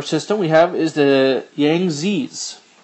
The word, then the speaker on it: Yangtze: Another river system we have is the Yangtze's, is how we'd pronounce it.